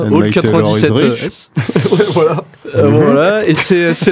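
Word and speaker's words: Old 97's: Comment on prononce ça? Old 97.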